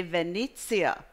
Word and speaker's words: Venezia: You say Biennale di Venezia. Venezia. And you have to do this with your hand to make it really work. So yes. Biennale di Venezia.